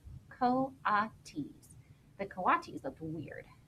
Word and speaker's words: coatis: watches miss Brisbane Stine reading from the letter pronounced co-op teased the coatis of the weird miss Mac looked